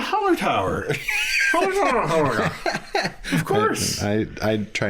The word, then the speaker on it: Hallertauer: Hallerg. I don't know. Hallergatar. German. Oh yeah, Hallertauer.